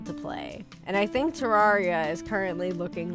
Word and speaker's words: Terraria: Like Terraria. But it's like, the thing is when you break it down into the root words, you would pronounce it like terra.